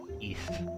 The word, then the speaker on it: Ys: Oh, Ys, which is spelled Y-S. East.